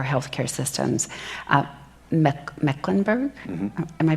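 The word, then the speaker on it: Mecklenburg: or housing or Health Care Systems um me mecklinburg am I pronouncing your county right yes I practiced last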